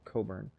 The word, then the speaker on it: Cockburn: i played the villain the the evil admiral coburn or it's spelled burns we call them